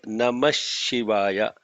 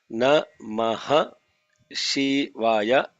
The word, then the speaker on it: Namah Shivaya: is this 5-letter mantra Namah Shivaya. So what is Namah Shivaya? Namah Shivaya, Namah Shivaya is what we are, when we are chanting it is Namah Shivaya. Namaha Shivaya becomes Namah Shivaya.